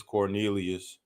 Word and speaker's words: Quornelius: Is Quornelius Radford in? It's Cornelius.